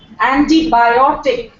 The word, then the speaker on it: antibiotic: hotel hotel not Hotel antibiotic where biotic is being stressed John is one of